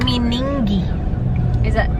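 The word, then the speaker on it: Meningie: Dan has been driving for almost 2 hours and we are in Meningi. Did I pronounce it right?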